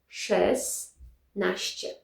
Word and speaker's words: szesnaście: So, instead of sześć, we will need szes szesnaście. Szesnaście. So, we don't have sz- cz- sz- cz- anymore. It's hard to pronounce that sz- So, instead of sześć, we have szes szesnaście.